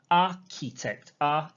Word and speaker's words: architect: and the same thing architect the ch is not a ch sound it is a k sound ah key text architect